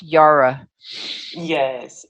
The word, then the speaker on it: Jara: welcome to the show Tina Yara is it Yara or Zara Hara Hara Hara Yara Yara Yara why okay why Yara spell chay-ara people but pronounced Yara yes thank you so much on it's it's a